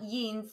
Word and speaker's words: Jeans: Or trousers, die kurze Hose, shorts, die Bluse, a blouse, die Jacke, the jacket, die Jeans, and it's not jeans, that's actually you pronounce it the English way, die Jeans, the jeans, die Kappe,